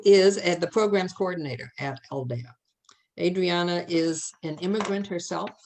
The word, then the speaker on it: Aldea: in Pennsylvania called Rosa told me how to pronounce this. Aldea.